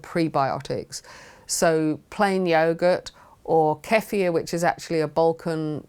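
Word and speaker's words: kefir: and those good prebiotics so plain yogurt or kefia which is actually a Bulan drink that has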